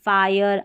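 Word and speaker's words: fire: जब IRE किसी शब्द में आता है तो कई शब्दों में इसका उच्चारण साउंड जो है आयर करके होता है, आयर। जैसे देखिए IRE, फायर, आयर हो रहा है ना, टायर और हायर, इसमें फिर टिर हिर नहीं पढ़ेंगे, आयर पढ़ेंगे IRE को।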